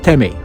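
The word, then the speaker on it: тэмээ: And I was told that in Mongolian, it's pronounced Teme.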